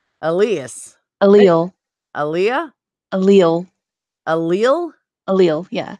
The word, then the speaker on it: allele: Allele. Elias. Allele. Aaliyah? Allele. Allele? Allele, yeah. All right. So the S is silent.